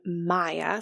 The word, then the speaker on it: Maia: Once again, I have put that information in the show notes, but the code is my first name, Maya. So that's spelled MAIA 10, the number 10, 10, Maya 10.